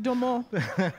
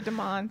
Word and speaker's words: Domond: It's like French, like Domond. Yeah. Yeah, it's pronounced Domond, but people say Domond.